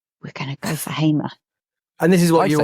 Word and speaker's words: Hamer: out to me that it is pronounced Gustavo Hamer, and he has sent me the video of Hamer pronouncing his own name as Hamer.